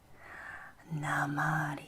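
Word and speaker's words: namárië: Here you can see the accent mark indicates that this is a long A and therefore gets emphasis. Na, ma, di. Once again, the accent mark above the E indicates that it is a long vowel and so is pronounced like the A in lake. Namarie.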